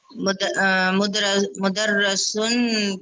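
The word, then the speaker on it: مُدَرِّسٌ: तशदीद के नीचे कसरा है, जेर, ये जेर है। मुदर्रिसुन अगर ऊपर होगी तो वो जबर होगी, मुदर्रसुन पढ़ेंगे। ये तो मुदर्रिसुन नीचे है, ठीक है। तो आप इसको ख्याल से पढ़िए वरना गलत पढ़ेंगे।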